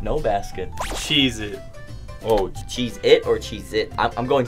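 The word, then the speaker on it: Cheez-It: way it's not why why everyone says cheese its with a z we've been saying it wrong for our entire lives am I even allowed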